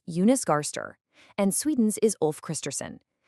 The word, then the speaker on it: Jonas Gahr Støre: For instance, Norway's Prime Minister is Jonas Gahr Støre, pronounced Jonas Gahr Støre, and Sweden's is Ulf Kristersson.